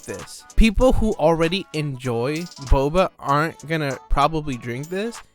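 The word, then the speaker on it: Bobba: So the product is called boba, but it's spelled B-O-B-B-A, so boba.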